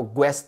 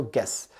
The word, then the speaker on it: guess: पे सिखा देता हूँ, जब भी जी के बाद यू आता है ना, मैक्सिमम टाइम वो साइलेंट होता है, तो उसको आप नहीं प्रोनाउंस करते हो। जैसे कि GUESS को आप ग्वेस नहीं पढ़ते हो, आप क्या बोलते हो? गेस, है ना, GUESS क्या बोलते हो? गेस, यानी ई की साउंड आप नहीं पढ़ते हो।